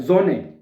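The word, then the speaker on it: Sonne: हां ये बात देखिए जो एस जो है ना वो जड की वास प्रोनाउंस होती है एस जो है है उसको जड की आवाज में मोस्टली आप देखेंगे कि जड की आवाज में प्रोनाउंस होगा तो इसका अने सूरज को कहना है सोने नहीं कहना जोने जोने एस जो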